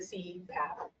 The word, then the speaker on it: CPAP: One big one that you'll see um is CPAP. So we pronounce it CPAP.